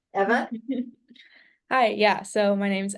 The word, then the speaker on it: Eva: And first name is pronounced Eva, actually.